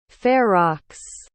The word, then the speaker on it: Ferox: spasmo eyeball and cannibal furrow ferox ferrox that's the proper pronunciation no no no no